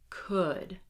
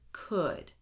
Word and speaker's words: could: Do not pronounce it. Here we go. Would, should, could, walk, talk, half, chalk, salmon. Again, would, should, could, walk, talk, half, chalk, salmon.